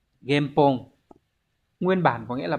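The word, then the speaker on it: 原本: Từ này đọc là game. Game Pong.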